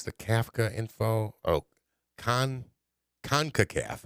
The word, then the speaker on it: CONCACAF: Kafka info oh con concacaf is how you say this concacaf the United States